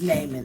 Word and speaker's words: Naaman: So it's Naaman.